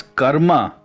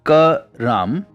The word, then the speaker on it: karam: It's pronounced karam with lesser emphasis on the ka.